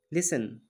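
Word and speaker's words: listen: lead दूसरी तिसरी form लिसन य पर साइलेंट है सुनना लिसन लिसन लूज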